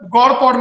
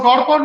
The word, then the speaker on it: GOD-POD: So this is a God-Pod method. So God-Pod method means GOD POD method.